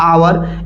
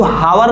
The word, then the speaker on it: hour: जैसे देखिए हम लोग बोलते हैं ना आवर, इसको हावर नहीं पढ़ते हैं, HOUR, इसको हावर नहीं पढ़ते हैं, इसका प्रोनाउंसिएशन होता है आवर।